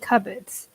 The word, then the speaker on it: cupboard: cupboard what is it cupboards also interesting pronunciation because there are a lot of silent letters in their cupboard yeah it's usually the